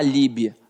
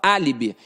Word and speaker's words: álibi: fosforo partícula partícula Álibi ninguém falar Líbia a gente fala Álibi e ao falar Álibi eu vejo que tá na antepenúltima sílaba então toda proparoxítona é